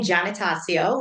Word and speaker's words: Giannatasio: But it's Giannatasio is how you pronounce my last name.